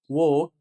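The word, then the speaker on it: walk: حرف الال حرف الال لو جاء بعده حرف ساكن وبيكون اخر حرف مش بننطق حرف الال فبنقول وك توك توك ثالث حاجه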